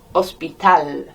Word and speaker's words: hospital: Any word that ends in an L, you're going to land on that last syllable unless it's got an accent. El hospital.